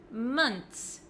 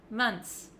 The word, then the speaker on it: months: I do say is months months six months months so it looks like this it looks like there's just a TS at the end I don't pronounce the